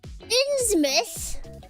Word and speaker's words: Innsmouth: I think I was stopped on the SH because I just knew that was not the word I wanted to say. Innsmouth.